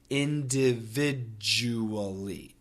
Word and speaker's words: individually: anyway in this case keep all six syllables but also keep that J J sound now the DU we get that J it's a j sound and the J is